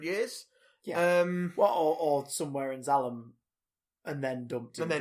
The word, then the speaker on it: Zalem: In the Wikipedia article, it's spelled Z-A-L-E-M. Zalem. It's Zalem. It's Zalem.